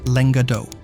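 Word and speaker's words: lenga d'òc: The word is pronounced in the region as lenga d'oc.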